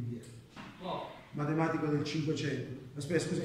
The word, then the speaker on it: Viète: Una cosa, queste si chiamano formule, è un matematico francese, credo che si pronunci Vietta, perché c'è l'accento su quella E qua, non c'è l'accento qua, Vietta, formule di Vietta, matematico del 500.